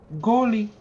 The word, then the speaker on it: Golly: Call the name Golly. He will show you the way. Golly. Golly. You must pronounce it correctly. Okay, well, we're dead. Thank you. Like goalie.